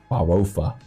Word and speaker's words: farofa: The funny thing about spelling in Portuguese is it just looks incorrect, but you just spell it as it sounds. So it's literally farofa.